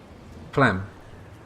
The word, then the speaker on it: Phlegm: Guys, if any of you are pronounce the PH like F and silent G.